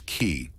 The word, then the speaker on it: qi: the flow of energy orqi pronounced as key.